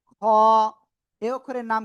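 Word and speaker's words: ح: এই অক্ষরের নাম কি, হ। এই অক্ষরের নাম কি বললাম, হ। গলার শেষ ভাগ থেকে অক্ষরটা উচ্চারণ হবে, মোটা আওয়াজে উচ্চারণ করতে হবে, ওয়ানলি এক লিপ টান হবে।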